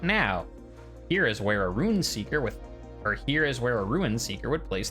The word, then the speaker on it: Ruin Seeker: Bottom right, choose wisely, Rune Seeker. Also, by Rune Seeker, I guess it's just the way I say it. It's Ruin Seeker, R-U-I-N, not R-U-N.